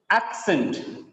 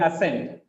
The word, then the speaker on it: accent: Accent. Sometimes some people read it accent. No, it is not accent. Accent.